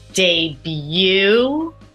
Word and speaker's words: debut: there's a final t valet again final T when you're writing it but we don't pronounce that final t ballet debut and Chalet practice the